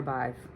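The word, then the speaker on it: Badb: saying it bad but it says beef five beaver bive b-i-v-e a-k-a b-o-d-b see this is where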